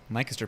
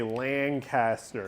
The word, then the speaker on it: Lancaster: Lancaster, Pennsylvania, obviously. Lancaster, Pennsylvania, yeah. Also, Lancaster, Pennsylvania is really cool. the Californians are wrong because they say Lancaster. Oh, yeah. It's Lancaster.